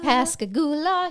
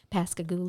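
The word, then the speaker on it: Pascagoula: But you will learn to pronounce Pasigula. Pasigula. Mhm. And And you'll learn how to sing it better than read it and say it. Say it. Pasagula. Pasagula.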